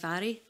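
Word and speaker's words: Mhairi: First, I say for the record that I am very happy for my name to be pronounced “Mari”, but normally it is pronounced “Vari”. I will answer to both.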